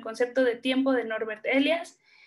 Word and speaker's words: Elias: Se escribe así, sin acento, no es Elías, es Elias.